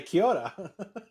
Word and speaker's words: Kia ora: Oh, it's like kia ora, but it's Kia ora.